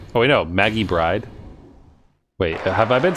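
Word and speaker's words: Byrde: Now then, this court finds the defendant, Maggie Bird. Oh wait, no, Maggie Bride. Wait, have I been saying it wrong the entire time? Is it Bride or Bird? Wait. Oh no, it's Bird.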